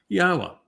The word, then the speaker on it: Yahweh: Exodus 21 I am first person singular Yahwa from the Hebrew vowels yod he w hey. And because I go to great lengths to explain exactly how you can be assured that that's the way to say it, there don't need to